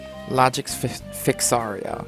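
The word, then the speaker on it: Logix Ficsario: Logix Fixario, that's his name. Okay. So we know the proper pronunciation.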